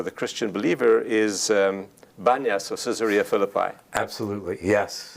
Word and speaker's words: Banias: christian believer is um banyas or caesarea philippi absolutely yes now banyas is called banyas because in the muslim it's not dichotomy enunciation the letter p is pronounced pronounced like b since the greeks put